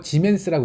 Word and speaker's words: 지멘스: 혹은 더 많이 쓰는 건 이제 S라고 쓰고 지멘스라고 읽습니다.